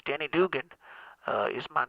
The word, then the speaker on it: Denny Duggan: want to tell you it is danny but it is also dugan so it's danny dugan uh is my name